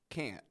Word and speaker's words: can't: can can't interesting stuff the fact that we get that full stop can't can can't can this